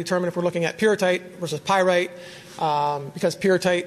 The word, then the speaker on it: pyrrhotite: to call the mineral pyro tight I don't that comes from thinking of pyrite but but it's actually the correct pronunciation is pure tight so the the mineral